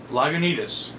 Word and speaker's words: Lagunitas: much craft beer nerds okay lagunitas that's how you pronounce it lagunitas it even